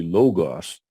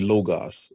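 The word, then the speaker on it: λόγος: that is not logo it's not only it's not omega long o it's Omicron so it would at best could be logos okay so it would be logos as actually yeah thanks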